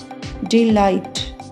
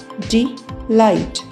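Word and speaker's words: delight: आई एस एल ई ऑल इसमें S silent रहेगा। ए आई एस एल ई ऑल डी ई एल आई जी एच टी डी लाइट डी लाइट ये long व आई के examples थे।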